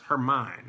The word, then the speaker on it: Hermione: Hermine. That's how you pronounce it.